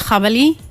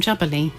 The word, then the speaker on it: Djabali: Yeah, it's because if you take the D away, then it becomes Djabali in Spanish, which means wild boar.